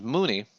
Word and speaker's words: Mooney: Yeah, Chris, our NFL manager, answers Rooney. Answers Mooney. Rhymes with Rooney in the chat.